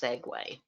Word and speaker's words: segue: out there any body very confused as to how this word is pronounced Segway yeah yeah I I